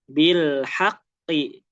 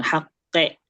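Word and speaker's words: بالحق: Bilhaqqi. Bilhaqqi. Nah coba ee bareng-bareng nih. Bil bilhaqqi. Bilhaqqi. Iya. Ya, haqqi ya, jangan haqe.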